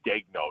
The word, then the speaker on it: Daigneault: I was told, we keep saying Dagnall, but he tells us it's Dagnall. It's almost like a Wisconsin kind of Dag, yeah. Dagnall.